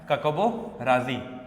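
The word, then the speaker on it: Hkakabo Razi: पर है, क्या है, काकाबो राजी, एच इज साइलेंट, ठीक है, काकाबो राजी।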